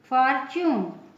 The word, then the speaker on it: fortune: TU आता है तो TU का उच्चारण च हो जाता है। फॉर एग्जाम्पल FORTUNE, अब देखिए TU आया है इस वर्ड में, FORTUNE, इसका प्रोनाउंसिएशन क्या हो जाएगा? च होगा, जैसे फॉर्च्यून।